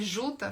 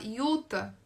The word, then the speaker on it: Jutta: Só que a pronúncia quando eles falam o nome da personagem, em vez de ser Juta, fala Yuta.